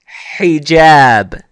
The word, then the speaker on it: hijab: Now, let's write the word hijab. Hijab. Okay? So you hear that hi sound. Well, that's the ha with the kasra.